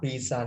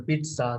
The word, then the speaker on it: pizza: Pizza නෙමෙයි අතර pizza කියලා pronounce කරනවා T නැති වුණාට.